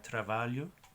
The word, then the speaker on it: trabalho: Ok, la combinación de LH es como doble L en español. El sonido es como Y, LY. Así que hay la palabra de trabajo, sería trabalho, LH, Y.